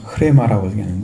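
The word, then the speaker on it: ῥῆμα: 그러니까 이미 써진 것을 말하고 있고, 그 다음에 레마나를 사용하는데 레흐마, 그러니까 흐레마라고 읽는데 그것은 말씀되어지는 것.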